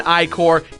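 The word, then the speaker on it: Ichor: Yes, it's pronounced Trapple and Icor, even the game tells you this.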